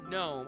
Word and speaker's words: GNOME: You've always said Gnome with a silent G. I've heard, like I said, that's just if I read Gnome, I'm going to read it with a silent G. But I have heard people in Linux tutorials and videos say Gnome. And I've heard that. So, I've heard it both ways within within the community, I guess.